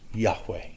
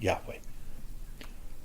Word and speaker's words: Yahweh: Scholars aren't absolutely sure that that's even the correct pronunciation, but we all agree that that is how we're going to say it, Yahweh.